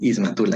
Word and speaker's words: Ismatul: Y corregime si pronuncio mal tu apellido, por favor. Sí, está bien, es Ismatul, así es.